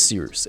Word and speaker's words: Cyrus: My name is Seeroos. It's spelled like Cyrus, pronounced like sea rooster, just take out the ter.